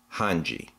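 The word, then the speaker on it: Hange: section commander found out I think I found out the correct pronunciation on this it's han ji 104th Cadet Corps yamir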